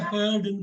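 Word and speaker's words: heard: கேட்டது கேட்டது ஸ்பெல்லிங் சொல்லுங்க இத எப்படி படிக்கணும்னா ஹேர்டுன்னு படிக்கணும் ஹேர்ட் ஹியர் படிச்சிட்டு இந்த இய உச்சரிக்குதா ஹியர் ஹேர்ட் ஹியர்டுன்னு படிச்சிடக்கூடாது ஹியர் ஹேர்ட் ஹியர் ஹேர்ட் ஹியர்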